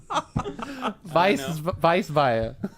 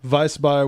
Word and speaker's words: Weissbier: This one, Ethan, go ahead and pronounce the name. Franziskaner. Right? Weissbier.